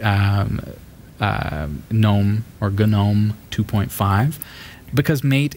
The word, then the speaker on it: GNOME: way but he says gnome which I realize like that doesn't sound too classic doesn't I don't love that Martin if you're watching silent G we're going with a silent G it's gnome I know